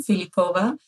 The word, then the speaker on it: Philipova: us feel welcome and I appreciate the Bulgarian pronunciation of my last name philipova I come to oral